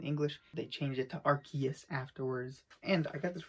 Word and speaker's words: Arceus: it as rcs because that was the original pronunciation in english they changed it to arceus afterwards and i got this really awesome pre-order